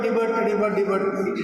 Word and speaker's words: debut: In the same way, a word like debut, D-E-B-U-T, they always say debut, just like Shankar Bhatt, it is debut. They never say debut, it's a French word.